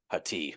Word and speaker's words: Hati: yeah, Her last name is, well, it's spelled Haiti, but it's Hati.